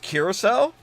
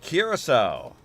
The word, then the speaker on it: Curaçao: Curacao. Curacao? It's pronounced Curacao? Oh, man. I would not expect a C. Well, yeah, with an S.